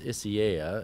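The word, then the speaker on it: Isaias: this is interesting um i think the pronunciation of this tropical storm that they've been hearing in the media is isiah it is yeah yeah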